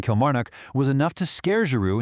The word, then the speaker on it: Kilmarnock: going to do in Kelch March Nook?" That catastrophic mispronunciation of the Scottish town Kilmarnock was enough to scare Giroud into entirely rejecting Celtic and signing for Montpellier.